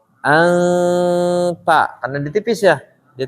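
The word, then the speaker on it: أنت: izhar ini tetap ikhfa jadi bacanya bukan Anta tapi ntar ane di tipis ya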